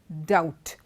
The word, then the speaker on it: doubt: applies for the word doubt B is not pronounced doubtful B is not